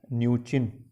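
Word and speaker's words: Mnuchin: Steve, M से start होगा, वह एम साइलेंट रहेगा, न्यूचिन, न्यूचिन।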